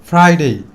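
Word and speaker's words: Friday: আরটা সাইলেন্ট থাকবে, বাদ। তাহলে THEUS, থার্স, DAY, ডে। তাহলে থার্সডে, থার্সডে। এবং লাস্ট অফ অল ফ্রাইডে।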